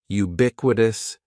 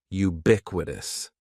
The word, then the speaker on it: ubiquitous: The first word is ubiquitous, and ubiquitous has 4 syllables. That first syllable is just like you're saying the letter U. Ubiquitous, and the stress is going to be on that second syllable. Ubiquitous, ubiquitous. Ubiquitous means existing or being everywhere.